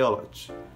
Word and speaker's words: agnolotti: esse aqui é o aote que se escreve agnolotti mas pronuncia ai olote com ajuda do dedão